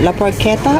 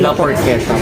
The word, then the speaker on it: La Porchetta: Paano pronunciation niya? La Porchetta or La Porchetta po.